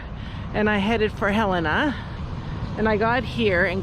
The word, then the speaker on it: Helena: um the Border officer very aggressively schooled me that it's Helena and not Helena so uh I am I apologize I was saying it wrong I'm gonna try to